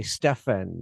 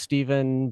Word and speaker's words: Stephen: I'm like, "No, it's Stephen, but it's Yeah, it's spelled with a P." And then or they write Steven with a V because it's it's spelled PH. It's pronounced V.